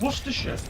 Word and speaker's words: Worcestershire: You don't know, it's Worcestershire. Okay, Lancashire. Worcestershire. Like Kenya? No. It's like forget how it's spelled, because the thing is, a lot of